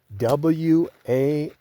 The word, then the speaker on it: Walz: W-A-L-Z.